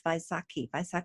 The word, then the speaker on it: Vaisakhi: to become known as Vaisakhi Day. Sometimes it's written with a B, but it's pronounced as a V.